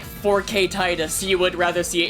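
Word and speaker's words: Tidus: is the one of Titus right or Titus whatever yeah with Titus yeah yeah Titus X yeah apparently tetus is like the Canon pronunciation but no one says that no I call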